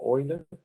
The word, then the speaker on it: Euler: Bueno, y la pronunciación ya les había comentado que se pronuncia Euler.